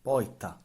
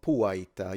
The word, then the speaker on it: porta: In the Palermo dialect, when r is followed by a consonant, it's pronounced like e. The word for door porta, is pronounced poita, Or puaita. You can even add a U here, but yeah, correct. the word for late tardo, becomes. taido, Yeah.